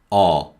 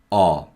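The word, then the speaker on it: ㅓ: to the left and this is r r similar to the vowel sound in the word hut or is written like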